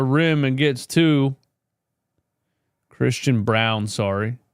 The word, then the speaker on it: Braun: Christian Braun goes right at Paul George at the rim and gets two. Christian Brown, sorry. Name spelled Braun, pronounced Brown for some reason.